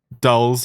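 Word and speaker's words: Allen Dulles: a question Alan dllas Alan Dallas is that how you pronounce it Dallas you I can't probably dolls dolls okay Alan dolls Sydney and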